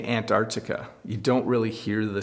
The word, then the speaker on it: Antarctica: hear if I say it quickly I say Antarctica you don't really hear the sea but it is Antarctica that would be the very the proper way to pronounce it aunt Arctic and Antarctica is where you would find penguins